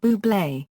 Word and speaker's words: Bublé: A campaign featuring Fever was launched before Valentine's Day with a quirky marketing campaign that simply stated "You pronounce it ɓuːbleɪ."